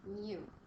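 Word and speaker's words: μ: This little U is pronounced mu.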